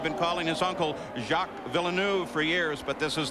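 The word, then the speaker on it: Villeneuve: looking for a championship but look alongside him jackville nef by the way the pronunciation has changed at the request of Jack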